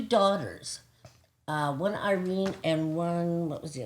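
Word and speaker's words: Irène: Irene. Irene? Or Iran is how she would pronounce it.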